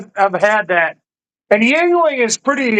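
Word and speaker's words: Yuengling: And yeah, he's Murray pronounced it yingling. He pronounced it right.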